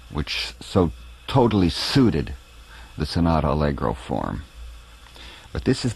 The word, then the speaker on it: sonata: so totally suited the sonata allegro form but this is the last sonata or to be pronounced properly sanata that beethoven would use